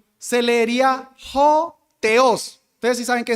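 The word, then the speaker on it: ὁ: La o con ese cosito, eso es un espíritu, se pronuncia ho.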